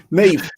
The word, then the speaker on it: Niamh: Is that how you pronounce it? Yeah. That's it. And I got Neve right, yes?